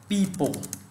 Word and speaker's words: people: Đó là từ này thường ta đọc là people, đúng không ạ? Từ này ta phát âm chính xác là people, ok, e, people.